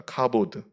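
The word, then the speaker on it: כבוד: 갑옷 갑옷이라고 했는데 카봇 원래는 발음이 카봇입니다 카보드 카봇 영광이라는 뜻입니다 이 카봇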